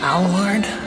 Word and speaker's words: Aylward: is a show by derek ollie ward is that the way they pronounce this it's alward painting show i came in